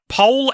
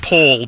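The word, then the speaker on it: Poul: Might be pronounced Paul, but it's spelled P-O-U-L, so I don't know.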